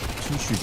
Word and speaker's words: Toutschuss: It's two shoes. Okay, I got pronunciation tips. Two shoes. Two. Okay.